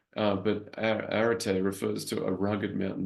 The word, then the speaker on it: Arete: It's Arete, as you see right here.